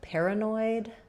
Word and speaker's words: paranoid: So in paranoid, for most of the US, letters AR are going to be the air diphthong, like airplane or up in the air. First syllable stress, so we stress on pair. This A says schwa, and then we have an oi diphthong, like in void or boy at the end, so oi. So thinking of it as pair, noid.